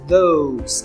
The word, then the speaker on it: those: Can you pass me those keys on the table? Aquelas chaves, those keys. Presta atenção na pronúncia do those também, tá? a ponta da língua entre os dentes. Those, those.